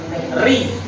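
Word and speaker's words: ر: Kalau tarkik itu tipis, seolah-olah kata orang Jawa sedikit meringis. Ri.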